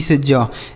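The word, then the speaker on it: siege: जी ई से ज।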